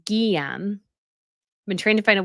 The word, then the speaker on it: Guillaume: Lizzie B says you can pronounce the Grand Duke's names as Guillaume.